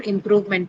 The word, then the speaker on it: improvement: stress is maintained for improvement also. So improve also has the same position for stress. Improvement also has the same position for stress, which is on the second syllable.